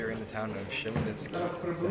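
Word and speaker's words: Khmelnytskyi: Hey there, so we are in the town of Chmelnytsky. Is that how you say it? Chmelnytsky.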